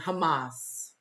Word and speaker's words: Hamas: is Israel and and Hamas I've been saying it wrong I've been saying hummus like the F the food like Trump said it